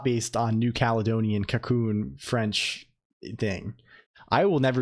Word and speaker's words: Colonq: It's Cocoon, a word taken from a New Caledonian dialect based on French.